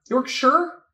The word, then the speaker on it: Yorkshire: pronounced sheer not shire actually it's pronounced sure not sheer not sure york sure wait what was i